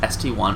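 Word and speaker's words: ST-I: And yes, it is pronounced ST1 as there's no I symbol in Russian.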